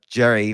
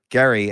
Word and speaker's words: Gerry: it came from Eldridge Jerry or Gary as apparently it's pronounced I didn't know that